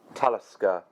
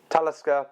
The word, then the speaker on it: Talisker: As far as the finish of the Talisker, can you see it there?